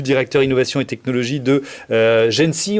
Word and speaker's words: GENCI: innovation et technologie de gêne si on prononce comme ça exactement gêne si c'est quoi